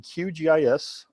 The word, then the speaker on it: QGIS: And we're glad to have Justin Peters here to talk about how do you pronounce that? QGIS? Yeah, that's QGIS.